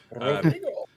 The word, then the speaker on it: Rodrigo: He's also got a really, really fun name to say as a caster if you can roll your R's. Rodrigo?